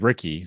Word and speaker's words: Riecke: Guys, Michael Riecke, he told us how his name is pronounced. It is Ricky.